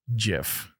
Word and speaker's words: GIF: it makes no sense it's pronounced gif but it should be jiff jiffy no gif it